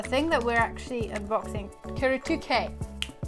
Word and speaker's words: Kuretake: that we're actually unboxing q2k that's how you pronounce it right here this is